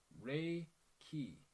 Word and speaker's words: Reiki: universal he means lifeforce Reiki is a two syllable Japanese word meaning universal life force although the proper pronunciation is Ray key it has been westernized too well let's just go